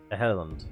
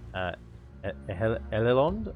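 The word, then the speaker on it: Edhellond: It's Ehelond. I don't know. It's not like Ed Helond. It's not the D sound. I know that. Like Ehelond?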